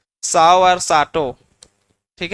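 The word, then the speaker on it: Tsao: लोग का ये वाला ये टी एस ए ओ एस इसे साऊ पढ़ते हैं ठीक है टी साइलेंट रहता है साओ और साटो ठीक है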